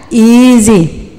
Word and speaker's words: easy: Ini panjang ya, easy. Pakai Z ya. Patokan, orang bule tidak bisa bilang S kalau dijepit sama huruf hidup. Pasti semuanya berubah jadi Z.